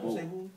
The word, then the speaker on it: boy: I'm saying boy, but in Chicago, we don't pronounce the Y at the end, so it's pronounced like B-O-A if you were to write it. So we just be like bull.